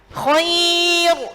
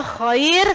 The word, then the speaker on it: khair: Yang sering salah yang ini nggih. Khair gitu bacanya. Sering sekali salah. Khair gitu nggih. Padahal khair karena roknya di sini sebelumnya ada ya sukun nggih, maka dibaca tipis khair bersama khair.